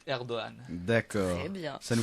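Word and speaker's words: Erdoğan: que le G avec un petit tiret en haut, on le prononce pas, donc on dit Erdogan.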